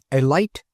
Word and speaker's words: Elite: Chug Scarrett was, and is, the proprietor and sole owner of the Elite Garage, and he pronounced it with a long I.